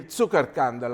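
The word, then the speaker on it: Zuckerkandl: The great discovery that was made 50 years ago by these two gentlemen, Emil Zuckerkandel, I'm using the German pronunciation because he was from Austria, and Linus Pauling, of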